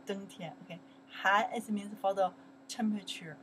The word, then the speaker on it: 寒: 寒 is winter.Han is a winter, the season, winter, Han. Winter, we say 冬天, right? 冬天, okay. Han is means for the temperature, okay?